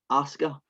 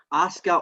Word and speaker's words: Asuka: We have the Raw women's match between Rhea Ripley and I'm going to pronounce this wrong like I do always, but Asuka. Is that right? That's right, Asuka.